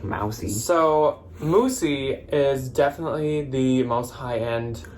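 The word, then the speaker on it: Moussy: up next up is one called moosie or mousy m-o-u-s-s-y here's the label let me know if you know how to say it i always say moosie and i swear i've heard moosie but then ryan said mousey i feel like it's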